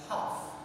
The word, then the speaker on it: half: Then another example, half, H-L. We have L letter in that word, but L becomes silent. That is pronounced as half.